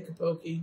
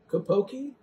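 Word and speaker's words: Copake: camp hill village usa kapoke newport now if you're from new york you probably know that i mispronounced that kopoki new york and so this is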